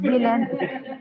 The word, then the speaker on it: Zealand: The Z of Zealand pronounce the syllable with the vowel of kip.